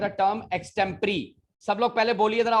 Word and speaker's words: Extempore: एक्सटेम्परी. Extempore. Very good, very good. याद रखिएगा, बड़े बड़े स्कूलों में इस शब्द को एक्सटेम्पोर बोला जाता है. सॉरी टू से, इसी का प्रोनाउंसिएशन है एक्सटेम्परी.